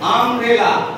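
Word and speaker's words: umbrella: আমরেলা আ এ, জোরে বলো, স্বরবর্ণ। হ্যাঁ, আমরেলা তার মানে ইউ দিয়ে, আমরেলা স্পেলিংটা ইউ দিয়ে শুরু, কিন্তু আমরা যখন উচ্চারণ করছি, প্রনাউন্স করছি, তখন কি আসছে? আ।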